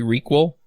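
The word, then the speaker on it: ReQL: your docs as well did you say recall is that how you pronounce it I'm not sure yeah yeah yeah yeah that's exactly how we pronounce it okay so it is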